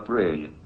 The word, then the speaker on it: brane: The answer may be that we live in a brain world. Your brain is spelled B-R-A-N-E.